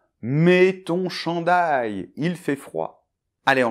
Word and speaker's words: chandail: Donc au début CHAN . Alors attention, CH [ʃ] comme « chocolat ». Et AN avec la nasale , un peu comme un A, mais c’est plus nasal ici. Et ensuite, on a DAIL . Alors, DA et après on fait un [j]. DAIL . D’accord ? Alors, ça nous fait donc .